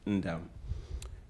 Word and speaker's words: Ndam: The N in that name is silent, Ndam.